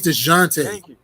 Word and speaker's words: Dejounte: His name's DeJounte. Thank you. I would have taken Delonte Murray too. I mean, I'm like DeJounte. That's his name. You said Delonte. DeJounte.